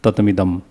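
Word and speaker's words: ततमिदम्: and just the English, then definitely we'll pronounce as a 2 word, tatam and idam. But if you just see the one in the Devanagari, then you can definitely read tatamidam.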